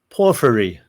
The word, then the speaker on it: Porphyry: I can never pronounce that. Porphyry.